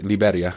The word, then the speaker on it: Liberia: Anyway, last time I saw her, man, she drove me to this bus stop in Liberia is how you pronounce it. Liberia is how it'd be in English.